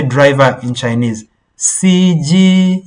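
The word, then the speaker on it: 司机: CG. You see, CG. It's like a beep of the car.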